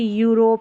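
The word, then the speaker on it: Europe: फिर है EU को यू पढ़ते हैं, इसका उच्चारण होता है EU का यू। जैसे कि यहाँ पर देखिए यूरोप, ये शुरू में आ रहा है ना, यूरोपियन।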